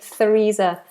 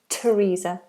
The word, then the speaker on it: Theresa: tongue comes out but on a few occasions usually with names the th becomes a t like the River Thames for example or the name Thomas or Theresa so I'm here I hear a lot of students say Theresa but it's not Theresa it's Theresa Theresa so Theresa May is